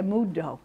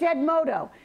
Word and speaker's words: Edmodo: I don't say it right, I want to say Edmundo. It's Edmodo.